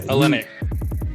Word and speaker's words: Olynyk: matched up with kelly how do you say it i think it's all brick oh i've got like yeah whole link or yeah um olynyk okay yeah olynyk you got him with